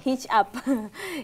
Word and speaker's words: Hijup: iya mungkin mungkin andeming tulisannya kan hijup bacanya hit up hit up sendiri itu